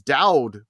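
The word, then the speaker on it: Dudd: it again because his his name is is dowed but it's spelled D UD D not d w d that I made the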